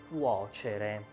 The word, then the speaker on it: cuocere: To cook is the verb cuocere, with this sound, cuocere. And it is not simple to pronounce, and it is not simple to conjugate, but we try it.